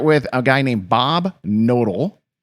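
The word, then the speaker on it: Knodel: So, let's start with a guy named Bob Nodal. K N O D E L. I'm assuming the K is silent.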